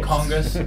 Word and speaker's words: KONGOS: If you say Congus, like the way we kind of say it, throw it away like Congus, then they spell it Congus.